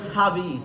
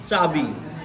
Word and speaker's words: চাবি: এখন আবার হচ্ছে কি চাবি চাবি কেউ বলে ছাবি সাবি হবে না হবে কি চাবি আবার হচ্ছে সাত অনেকে